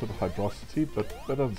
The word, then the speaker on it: Hydrocity: Some pronounce it Hydrocity, but that doesn't sound right to me.